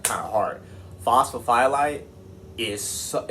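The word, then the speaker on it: phosphophyllite: It's not phosphophophylite, alright, it's phosphophylite, alright? That's how you say it.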